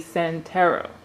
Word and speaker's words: Santero: He is a Santero. I pronounced that correctly?